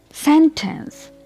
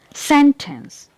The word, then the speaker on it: sentence: Sentence. Here I am giving a stress on the first syllable. Sentence.